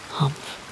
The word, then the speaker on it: Humph: If you read this story aloud, please pronounce humpf exactly as it is spelled, for that is how he said it. Humph.